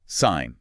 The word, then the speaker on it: sign: You see a G in the spelling, but you must pretend it does not exist. It is completely silent.